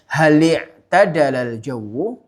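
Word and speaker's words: هل اعتدل الجو: Contoh yang kelima, hal i'tadalal jawu, atau cara membacanya lebih tepatnya hal i'tadalal jawu, apakah udaranya sejuk?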